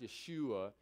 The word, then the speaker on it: Yeshua: that Hebrew named Joshua but it would be pronounced Yeshua and so it's got the part of Yahweh